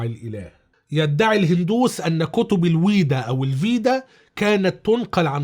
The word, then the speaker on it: Veda: حسب النطق الغربي بيتقال فيدا أو فيداس أو الفيدات، وحسب النطق الشرقي الأصح بيتقال الويدا أو الويدات بالجمع يعني.